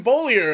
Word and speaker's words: Bullier: We finally got the accurate pronunciation. Shout out to Lindsay checking us out on Facebook, hanging out in the Facebook chat. Appreciate that. It's Evan Bullier in the 56 machine.